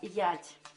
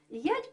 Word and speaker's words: ять: Буква «ять» произносилась как «я» в родном говоре Кирилла и Мефодия.